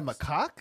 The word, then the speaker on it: macaque: Oh, they're macaques. Is that a macaque?